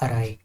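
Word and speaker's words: awry: Pronunciation क्या है इसकी? अराई। जो डब्ल्यू है यहां पर वो साइलेंट है। सो it would be अराई।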